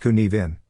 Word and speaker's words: Cynefin: world problems and opportunities cinephin pronounced kunivin is a Welsh word that signifies the multiple